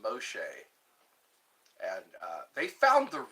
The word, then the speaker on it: Moshe: of Moshe they say in Hebrew his name is pronounced Moshe and uh they found